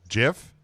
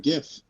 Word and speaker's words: GIF: it's Jeff it's Jeff like the peanut butter yeah like the peanut